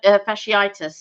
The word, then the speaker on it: fasciitis: Karina said, I used to do half marathons for fun until I got, I can't pronounce that. Is it plantar? Fasciitis.